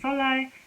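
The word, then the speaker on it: 설날: say Solar, and then it's actually written like this. This is how it's spelled, with an neon sound, neon sound, like the N sound is here. But because it's coming after this, it became a double L sound.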